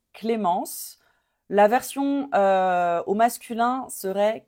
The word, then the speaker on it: Clémence: you pronounce this one là on veut pas entendre le N à la fin I don't W hear